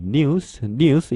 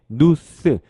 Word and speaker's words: news: 끝에 있는 단어 소식이죠 우리가 흔히 뉴스뉴스 이렇게 말하죠 물론 뉴스뉴스 이렇게 발음해도 상관없어요 그런데 외국인 미국인들 발음 잘 듣잖아요 그러면 뉴스 이것보다는 스 이렇게 누스 누스 이렇게 발음을 자주 하는 것을들을 수 있습니다 뉴스스 이렇게 발음해 주시면 될 것 같습니다 뉴스 이렇게 해주셔도 좋고요 스 이렇게 해주셔도 좋습니다 자 그러면 한번 따라